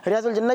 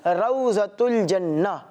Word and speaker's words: روضۃ الجنہ: عام بول چال میں لوگ اسے ریاض الجنہ بھی کہتے ہیں، مگر اس کا اصل تلفظ کیا ہے؟ روضۃ الجنہ.